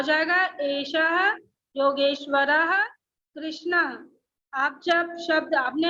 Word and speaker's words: योगेश्वरः: आप जब शब्द, आपने आंसर सही दिया था, बट शब्द जब बोलते हैं तो जो ह का हलंत है उसका उच्चारण हमें शब्दों में चाहिए। ओके, आपने क्या Yes, कहा ma'am. था? योगेश्वर कृष्ण, लेकिन ऐसा नहीं, इसको पूरा बोलिए, एषः योगेश्वरः कृष्ण।